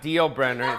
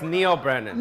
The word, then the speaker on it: Neal Brennan: yeah Neal Brennan yeah not deal Brenner not deal it's Neal Brennan Neal there's a brand